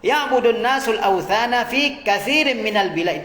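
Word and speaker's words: كثير: Ya'budun nasul awthana fi katsirin minal bilad. Itu bacanya katsir, ada yang keliru itu.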